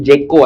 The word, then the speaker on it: JKO: Kau tahu dulu nama Kamu di belakang itu Jeko anjing, Jeko. Iya, nama JKO. Ya nama apa? Nama punggung ya? iya nama Nama punggung. punggung. JKO. Tapi orang-orang gobloknya bacanya Jako ini.